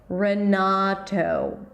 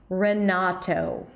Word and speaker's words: Renato: Renato. Some Americans may say Renato when they say it really, really quickly, but you guys can insist on pronouncing the true T. Renato.